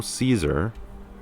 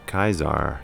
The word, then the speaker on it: Caesar: kaiser not caesar because there would be no caesar they would be kizar there's no soft c sound all right so we